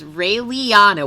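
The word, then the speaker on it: Raeliana: nightmare after her mysterious death rinko's reborn as rayleiana what the is that name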